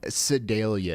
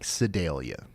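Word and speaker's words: Sedalia: Okay, so y'all just pronounced all of that wrong. It's not Sidelia. It's more like Sidelia.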